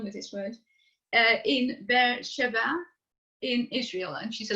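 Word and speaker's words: Be'er Sheva: have a problem with this word uh in bear shabbat in israel and she's a lecturer have i pronounced it right yes you do oh good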